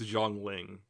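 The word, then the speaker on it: Zhongli: but jangling and yes i know i'm horrifically mispronouncing her name i don't care i know it's zhong ling but but you don't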